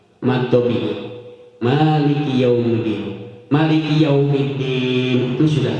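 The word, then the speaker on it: مالِكِ: Maliki yaumiddin. Maliki yaumiddin. Ma di situ panjang. Mad tabi'i. Maliki yaumiddin.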